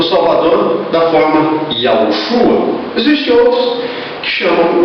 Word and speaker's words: Yahushua: Shin e Ain, da qual a pronúncia é Yahushua. A pronúncia, a expressão vocálica, quando se lê esse nome, é Yahushua.